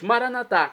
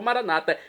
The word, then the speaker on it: maranatá: E agora eu clamo do aramaico, dialeto de Jesus, maranatá, como dizemos nós católicos, ou maranata, como dizem nossos irmãos das comunidades evangélicas ou protestantes. Não importa a pronúncia, o significado é o mesmo.